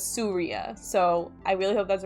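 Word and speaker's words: Suriya: I asked Sri how to pronounce his name because I was saying Surya, but he told me it was Surya, so I really hope that's right.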